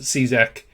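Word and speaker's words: Čížek: But yeah, Cizek, I believe, is the correct pronunciation. I did actually look it up, and Lubos Cizek is how you pronounce it.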